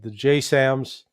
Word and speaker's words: JASSM: Shadows, the Taurus, the JSAMs, those are, a lot of people will say the JASSM was as Joint Air to Surface Strike Missile, I think is the terminology, but the acronym pronounced JSAM.